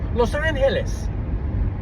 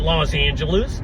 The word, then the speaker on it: Los Angeles: I mean, the correct pronunciation is Los Angeles. That's the correct pronunciation, but it's Spanish. You can call it Los Angeles and you can anglicize it.